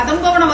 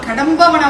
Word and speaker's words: கடம்பவன: நிறைய பேர் ஏங்க நீங்க கதம்பவன வாசினின்னு சொல்லாம கடம்பவன வாசினின்னு DA அந்த மாதிரி வந்து ப்ரொனவுன்ஸ் பண்றீங்களேன்னு கேட்டதுக்கு திரும்ப சொல்றேன்.